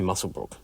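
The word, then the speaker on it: Muswellbrook: Next up is Warren from Musselbrook, and I always stumble over that name, even though it's written or it's spelt Muswellbrok. So I go Musselbrook. I think they say Musselbrook.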